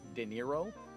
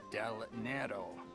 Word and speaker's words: Del Nero: Jack De Niro? Del Nero, not De Niro.